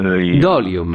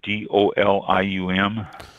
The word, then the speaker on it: dolium: Sounds like volume, but it's dolium. No. Dolium. Yes. Okay. The, Dolium.